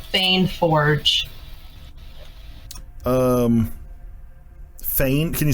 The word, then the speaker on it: Feign Forge: It'll the store will be called Fane Forge. Fane, can you spell it?